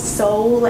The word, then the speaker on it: Sole: why you need to prepare Soleil or as soul as I pronounce it sometimes in your life